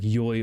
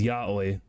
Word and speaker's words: Yahweh: Someone in my Discord pronounces Yahweh like Yoi unironically. Ooh. Like, I know the correct is Yahweh.